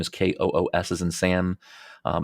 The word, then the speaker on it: Koos: up my my name last name is Kos is in Sam um it's pronounced Kosh but it looks like cous um second place